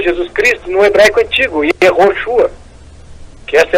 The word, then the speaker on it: Yehoshua: Não somos contra o nome do Senhor Jesus Cristo no hebraico antigo, Yehoshua, que essa é a pronúncia mais correta.